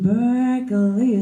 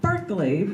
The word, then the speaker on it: Berkeley: Pierre ke le why like you're parking Berkeley park your parking up